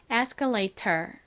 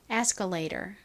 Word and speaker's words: escalator: A는 A 소리 나고 T는 T 소리, OR은 소리가 나는데 이 단어를 미국식으로 읽을 때에는 이 T 부분을 리을처럼 읽는다고 말씀드렸죠. 그래서 escalator 보다는 미국식으로는 escalator 이라고 발음을 합니다.